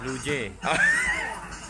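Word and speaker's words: 루지: It's Luge. How you say is Luje. So the tour guide says it's Luje. So it's Korean pronunciation, so we are gonna play Luje.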